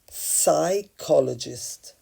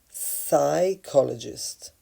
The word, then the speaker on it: psychologist: becoming a psychologist where you don't pronounce the P you just pronounce the S psychologist psychologist she was interested in